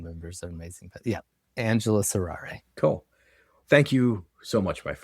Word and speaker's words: Angelus Errare: I play in a band called Angelus Errare, and the spelling of that is atrocious, but I'll spell it real quick. ANGELUSERRARE.